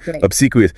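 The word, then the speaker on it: obsequious: Obsequous. stress on the second syllable.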